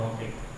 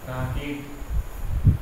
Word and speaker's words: रॉकेट: क्योंकि गलत उच्चारण है, और राकेट ये भी गलत उच्चारण है, राकेट पहले की पुरानी किताब में ऐसे ही लिखा जाता था, लेकिन ये सही उच्चारण की दृष्टि से सही नहीं, बाल नहीं बॉल होता है, राकेट नहीं रॉकेट होता है, तो हमने यहाँ पे